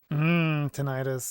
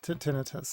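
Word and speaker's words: tinnitus: Tenitis. Yeah, tinitus. Tinetus, I think, ended up being the correct pronunciation.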